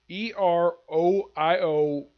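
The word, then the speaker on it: Eriol: First is Ariel Hiragawa, even though this is how it's spelled. Eroiol.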